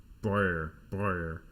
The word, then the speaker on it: Breuer: German is so hard to pronounce. Breuer. Joseph Breuer, fuck, it's so hard to get that R, had a few different